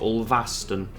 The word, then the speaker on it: Ulverston: It's not stone, it's stun. Even though I'd still pronounce it as Ulverston, even if I had the E on the end.